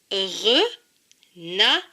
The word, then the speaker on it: renard: Et le D ne se prononce pas puisqu'il est écrit en bleu. Donc ce mot se lit renard.